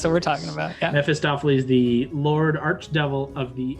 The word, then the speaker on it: Mephistopheles: How do you pronounce it, Kyle? I'm going to butcher it. Mephistopheles. Mephistopheles.